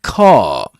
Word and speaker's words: car: Again, as I mentioned in previous episodes, um, in southern standard British English, Luke's accents, the arm is not usually pronounced at the end of a word like car except in some uh except for some exceptions.